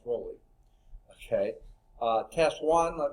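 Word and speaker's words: Rolle: the world would roll I believe it's pronounced rolly okay uh test one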